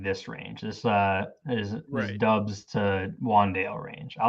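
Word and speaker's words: Doubs: late date too absolutely i have no idea how to pronounce dupes dobbs it's dubs it's romeo dubs and i you know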